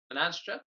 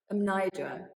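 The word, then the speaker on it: Mnajdra: I also saw, I'm going to pronounce these ones wrong as well, Hagarquim. Hajar'im, yeah. And Menadra. Amnidra.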